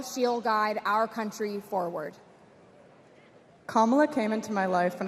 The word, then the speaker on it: Kamala: First, you say comma like a comma in a sentence. Then you say la like la la la la la. Put it together, and it's 1, 2, 3. Kamala.